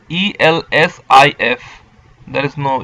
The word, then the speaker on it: elsif: Now see, in Perl, else if is pronounced in a different way. It is ELSIF.